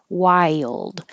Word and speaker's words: wild: salt and pepper wild if you think of this as Y and then you'll or you can think of it as while like while I was out while and then a d wild and hold it in the D position Wild turkey persimmon persimmon